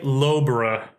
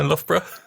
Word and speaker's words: Loughborough: Lobro. How do you pronounce it? Well, me? Yeah. Oh, Loughborough, isn't it? Of course. Yeah, Loughborough. Oh, so it's one of those where GH turns into an F.